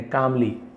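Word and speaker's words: calmly: का मतलब शांति से यहां पर भी एल साइलेंट है कामली शांति से जवाब दिया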